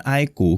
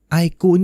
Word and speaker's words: iQOO: Ya, untuk yang belum kenal dengan brand iQOO, kita udah pernah bikin video spesial untuk perkenalan dengan si iQOO ini. Kalau penasaran soal brandnya, mungkin bisa cek video itu dulu ya. Oh ya, iQOO ini bacanya emang iQOO ya, bukan IQ, bukan.